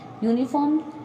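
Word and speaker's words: uniform: यहां पर एंड को यूज करेंगे से इन यूनिफॉर्म यूनिफार्म स्टार्ट कैसे है कि यू से प्रॉब्लम है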